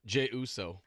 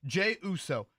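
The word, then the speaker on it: Jey Uso: watched the whole Rumble okay give me the pronunciation on the guy that won again Jay Uso Jay Uso you put that into and actually you are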